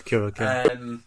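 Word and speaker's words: Curaçao: I think it's Curacao.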